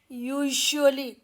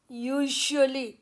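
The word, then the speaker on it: usually: रहे हैं, जैसे कैजुअली, तो मेरी आप आवाज़ सुनिए, यहाँ पर जो आवाज़ आ रही है यूजुअली, कैजुअली, यूजुअली, तो ये साउंड ना तो श की आवाज़ है ना ज की है, ये उनके बीच की आवाज़ है और उसका ये सिंबल है।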